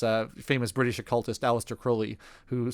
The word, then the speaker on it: Crowley: apparently he pronounced it Crowley rhymes with holy and uh I did